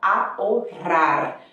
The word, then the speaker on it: ahorrar: Olha aí o sonzinho do H que não é pronunciado. Você fala ahorrar, ok?